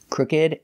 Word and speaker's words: crooked: remember these two words they are pronounced like they look with the ed sound they're not verbs they're adjectives crooked and naked thanks for watching and